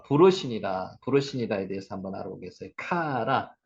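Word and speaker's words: קרא: 카라, 이 단어가 카라입니다. 부르다, 선포하다는 뜻도 있습니다. 부르다는 뜻만 아니라 선언하다, 반포하다, 축하하다. 이게 카라입니다. 카라.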